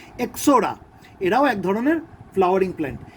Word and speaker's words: Ixora: এক্সোরা, IXORA, আইটা silent থাকে, এক্সোরা, এরাও এক ধরনের ফ্লাওয়ারিং প্ল্যান্ট।